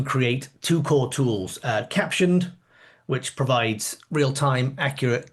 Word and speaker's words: Captioned: Yes, it's pronounced caption, but a lot of people because of that period and then the ed say caption.ed captioned ed.